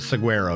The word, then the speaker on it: saguaro: Saguaro is actually pronounced saguaro. There is no G sound. Nah, that's wrong. That's completely wrong. It's saguaro. Spanish, not British. The G is often silent in Spanish.